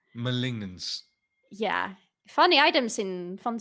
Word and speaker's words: Malignance: malignance malignance Mal Molin I listened to Google Translate pronounce it like 10 times when I first saw this items I think it's malignance malignance yeah funny items in